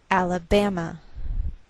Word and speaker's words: Alabama: So the greater stress is on this third syllable. We say Alabama.